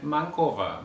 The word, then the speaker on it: MANCOVA: will address these questions how do you actually pronounce these words that's uh also open for debate i say manova and mankova but i also heard